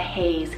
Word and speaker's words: Hayes: Spelled A-U-R-E-L-I-A-N, Aurelian, and Hayes, H-A-Y-E-S.